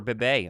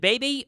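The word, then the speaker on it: Cooper Beebe: oh they're getting Cooper Bay aren't they is it baby or how do you say his last name I I think it's be I don't I could be wrong maybe it's something else I think it's be um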